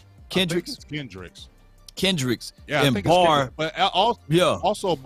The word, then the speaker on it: Kendricks: you can say, okay, was it Hendricks or Kendricks? How you say his name? Is it with a K? Kendricks? Kendricks.